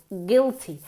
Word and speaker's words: guilty: to feel Gil Gil listen to the pronunciation guil guil no Gil guilty guilty okay ready okay he